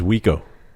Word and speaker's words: Juico: and his name is spelled Juico, Yeah. and he pronounces it, take a guess. I don't know. It was Wico.